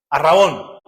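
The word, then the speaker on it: ἀρραβών: Arrabón, que es nuestro arrabón de la herencia, ¿sí?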